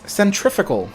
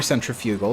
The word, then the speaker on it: centrifugal: what word it was it was centrifugal or centrifugal depending on where you're from if you're from the UK you say centrifugal it has to do